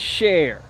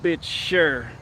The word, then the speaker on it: Cher: was like yo you you said her name wrong her name is cher i was calling the sure do you believe you